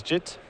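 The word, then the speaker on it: Jitte: I believe it is Jit, but at this point the Magic community I feel has colloquialized it to Jite so much that it's kind of interchangeable.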